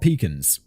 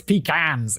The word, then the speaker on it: pecan: Wild peacans. Pecans. David gave me a pronunciation guide for peacans. I know it's pecans in American, David, but I'm going to say it my way.